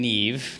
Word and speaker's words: Niamh: here with Christine and Neeve did I say it right yes you did